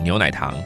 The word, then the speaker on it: 牛奶糖: 牛奶糖。